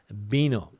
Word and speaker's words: vino: that's exactly right yeah you would think that it was spelled with a B if you heard a Spanish person say that word bino Elaine's saying here also